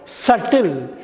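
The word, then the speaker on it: subtle: எஸ்யூபிசிடிஎல்இன்னா நுண்மையான, நுணுக்கமான, சட்டில். பார்த்தீங்களா? பி சைலண்ட்டாக இருக்குது பார்த்தீங்களா? எஸ்யூபிடிஎல்இ. பி சைலண்ட்டாக இருக்குது பார்த்தீங்களா? சட்டில். எஸ்யூபிடிஎல்இ பி சைலண்ட்டு, சட்டில் அப்படின்னா நுண்மையான, நுணுக்கமான.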